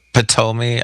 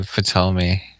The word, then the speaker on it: Ptolemy: Do you pronounce the P in it, or do you just say Ptolemy? I just say Ptolemy like a T.